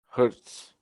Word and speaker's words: Herbst: Hurts. Yeah. I pronounced it Riley Hurts.